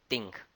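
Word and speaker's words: 丁: The fire is pronounced as Ting. This is the most easiest. T-H-I-N-K is Ting. The sound is 100% match.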